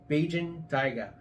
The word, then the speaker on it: Bajan Tyga: founded my company on which is um the Beijing tiger um that's the correct pronunciation Beijing tiger uh it's it's interesting because I didn't realize